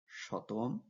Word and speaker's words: শতম: ভেদে পার্থক্য পরিলক্ষিত হয় বিশেষ করে প্রাচ্যে সি সমান এস উচ্চারণ করা হতো বলে সেঞ্চুরি শব্দের প্রাচ্যের উচ্চারণ রূপকে শতম পাশ্চাত্যে সি সমান কে উচ্চারণ